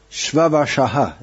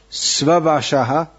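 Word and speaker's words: Svavaśa: Shvavashaha, if you want to say it's Svavashaha in Sanskritam, and I tend to pronounce it in a bit of Bengali style, so that's why it sounds a bit different.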